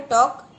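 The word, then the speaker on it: talk: तो पहला है टॉक, TAL के टॉक। तो टॉक में जो है L साइलेंट है।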